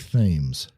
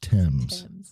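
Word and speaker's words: Thames: a river called the TS now if you look on a map it'll look like themes but it's pronounced TS and it runs right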